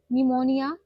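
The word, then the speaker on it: pneumonia: पूरा नाम है देखो प्ल्यूरो पी साइलेंट है निमोनिया निमोनिया like organism clean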